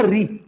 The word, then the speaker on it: ऋ: बेटा टच नहीं होगा शुद्ध उच्चारण अगर आप करोगे री आप बोलोगे री तो आपकी जीभ बेटा जो आपका यह वाला हिस्सा ना यहीं पर वाइब्रेशन करती रहेगी बहुत तेज यहां पे बट यहां टच होने की हिम्मत नहीं